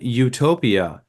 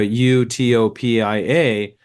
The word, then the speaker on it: Utopia: it it it it it's phonetically it's the same same as another way of spelling Utopia which is EU uh U EU hopia and and that spel that sounds Utopia also that means good place